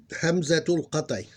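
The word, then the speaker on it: همزة القطع: The cutting Hamza, pronounced in Arabic, you can probably read it Hamzatul Qat'i. Hamzatul Qat'i. Or Qata'.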